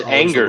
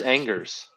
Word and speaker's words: Angers: If we're not pronouncing consonants, we're talking in French. So, yeah, we're in Angers.